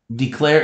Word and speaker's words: declare: get to that part declare is a two syllable word d finger space claire so scholars this is the first syllable but a bump did you catch the name sound of the e right declare d claire and then here we have a saying its name sound so did you catch that we have a vowel consonant silent e d declare declare so